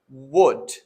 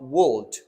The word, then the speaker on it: would: simply drop it so here are the silent consonants such as wood not wooled or could not cold or the other word